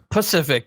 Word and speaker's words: Pacific: Pacific, but every time you say it, I think specific, and you're mispronouncing it.